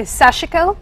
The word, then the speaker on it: sashiko: time well it is it does come from the Japanese and so many people say sashiko that would be the way to say it um it's spelled a